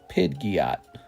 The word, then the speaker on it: Pidgeot: We're going to say PSA 5 jungle Pidgot. That's how you pronounce it, by the way.